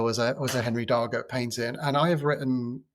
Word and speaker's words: Darger: Often pronounced Roger, but it's he insists on Darger, so I'm going with him.